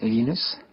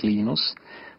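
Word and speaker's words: Linus: I speak Swedish it's lenus when I speak Finnish it's lenos when I speak English it's lonus and I really don't care how people pronounce my name but Linux is always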